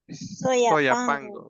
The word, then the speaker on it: Soyapango: Mm, Y pero decimos en Castilla, Soyapango. Soyapango. Ujú.